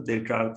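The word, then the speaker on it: Descartes: Spelling ये होगी लेकिन जब पढ़ेंगे तो डेकार्ट तो पढ़ेंगे। फ्रेंच के साथ थोड़ा दिक्कत है बच्चों, फ्रेंच लिखा कुछ और जाता है, पढ़ा कुछ और जाता है।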